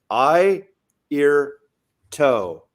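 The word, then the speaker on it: Airto: you know how to if you want to know how to Pro pronounce my name say I ear toe I toe and that was I ear toe that's how he would tell the audience to pronounce his name hi that was like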